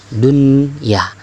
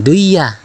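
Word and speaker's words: دُنْيَا: Nah, seperti kalian sering menyebut dunia, contoh yang keempat, dunia ini artinya dunia ya, dunia, dunya, dibacanya jangan duya ya, jangan duya, tapi tetap bacaannya dun ya.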